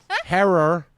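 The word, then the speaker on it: Herer: Herror like terror.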